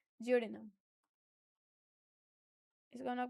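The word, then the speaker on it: duodenum: Small intestine का सबसे पहला पार्ट है उसको हम लोग प्रोनाउंस करते हैं जियोडिनम।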